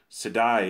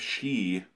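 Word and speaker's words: sídhe: video on the others I pronounced a Gaelic word Sidi instead of she which is apparently the correct pronunciation from the beating I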